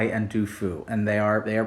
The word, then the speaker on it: Du Fu: So today we're going to be going over some of the poetry of Bai and Du Fu, and they are pronounced that way, but they've been translated or